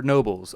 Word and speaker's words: Knoebels: way question of the day boys do you pronounce Knoebels Knoebels or Nobles I need to settle a bet with a